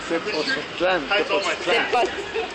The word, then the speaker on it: Tepoztlán: Tepoztlán.